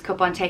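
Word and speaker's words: cupán tae: caponte which means cup of tea and it's pronounced i always use kopante if i'm offering someone a cup of tea i always ask do you want a cup ontay or just on its own cupante this is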